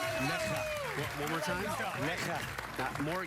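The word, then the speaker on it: Nässjö: So you eyeball it and you say, Nasho, Nasjo. Yeah. Instead, you say, Necha. One more time. Necha. More. Give me more. Necha. Necha. Necha.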